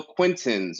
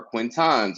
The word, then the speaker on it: Quintin: roll call or for job interviews but still quinton's or quintans or quintin's when Quinton lives right there in the email handle Google calls me quintis a fifth of whiskey or lazy speakers who